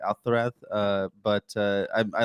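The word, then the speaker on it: Alcaraz: Alareth. Yeah, because he's Spanish. That's how you say it. Alareth.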